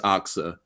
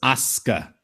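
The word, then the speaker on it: Asuka: that s that sound it's the same thing when you're saying Sasuke you don't thats soo sound you're not pronouncing it suits us so it's aska so in one match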